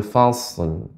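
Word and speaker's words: فصل: naal biljrimin waumil mukzibin jadi tadi pengucapan fasal jadi dia agak lebih kita perbanyak Shad ya dia istila naiknya suara kelangit e tebal namun dia mengalir ya fash kita gabungkan ya Yaumul fashl fashl fash Nah demikian Bapak Ustaz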